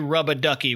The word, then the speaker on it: Rubber Ducky: Flash is on board with getting them DJ Rub-a-Ducky. By the way, the captions and every wiki that covers this episode spells out Rubber Ducky, but everyone in this cartoon pronounces it Rubba, and so shall I.